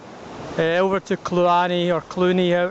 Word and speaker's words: Cluanie: the hell no hay over to karani or Clooney oh it's pronounced and we stopped here for a rest